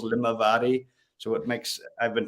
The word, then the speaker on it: Limavady: with the name of Limavady? Or is it going down easy, or is it not very easy for the Americans out there? Out in America, they've got T-shirts printed with the syllables Limavady.